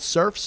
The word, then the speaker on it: Cerphe: a minute uh check it out it's called surfs up it's spelt c-e-r-p-h-e a musical life with bruce springsteen